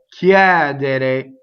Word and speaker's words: chiedere: Che chiedono, chiedere. So open on the stress in this verb, right? The word to ask. Chiedere. Chiedon. So the accented syllable again is open and the unstressed one is closed.